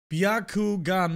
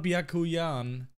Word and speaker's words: Byakugan: Byakugan, not Byakuyan.